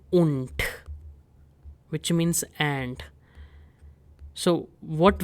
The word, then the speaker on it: und: Now between dry and swansish, I'm going to insert this word called un which means and.